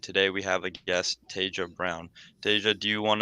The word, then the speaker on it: Taja: Also, I want to say thank you for pronouncing my name correctly. I often get Taja, Taha. So thank you. But hello, everyone. My name is Taja Brown.